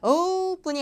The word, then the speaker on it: opening: 자, opening 할 때 자, o는요. 모음이 이제 o로 시작할 때 저게 이제 평순 모음일 때가 있고 원순 모음일 때가 있어요. 자, opening은 원순 모음이에요. 자, 원순 모음은 입을 동그랗게 해야 된다는 거죠. opening이 아니라 opening 하셔야 돼요.